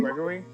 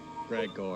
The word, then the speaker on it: Gregor: users are in now, and then there was Gregor himself that's in the building. How do you pronounce his name? Gregory? Gregor. What? Gregor.